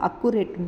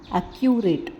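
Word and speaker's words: accurate: இது வந்து நம்ம சொல்கிறப்ப அக்குரேட்னு சொல்லுவோம், ஆனால் அக்குரேட் இல்லை, அக்யூரேட்.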